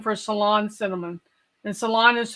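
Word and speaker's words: Ceylon: of cinnamon there's a cassia cinnamon and a salon cinnamon Salon cinnamon is high lighter in color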